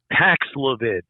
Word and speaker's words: Paxlovid: I forgot how to pronounce it. Paxlovid. Yes. Yeah. Is that available? Antiviral. Go ahead. I'm sorry. Yeah, that's widely available. I was also on Paxlavid, and I took that.